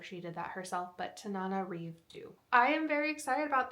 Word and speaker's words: Tananarive Due: Thank you to Kindle for having like how you pronounce her name there, and I'm sure she did that herself, but Tananarive Due.